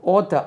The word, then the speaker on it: author: எழுத்தாளர் ஓத்தர், பழையபடி இங்கே உச்சரிப்பு ஓத்தர், ஆத்தர் இல்லை, அது ஓத்தர் AUTHER author authority 307.